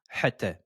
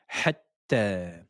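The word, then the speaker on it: حتى: Ne dites pas hatta, mais c'est hatta. Et prolongation de deux temps.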